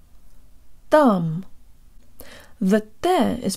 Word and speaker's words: там: lip surrounded and protruded thumb thumb but there is pronounced with the part of the tongue just behind the tip that's the portion that